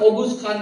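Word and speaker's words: Oghuz Khan: आप गूगल कर लीजिएगा वो अपने को ओस खान ओगुस खान बोलते हैं। उसको स्पेलिंग आता है ओ जी यू जेड ओगुस खान की संताने मानते हैं।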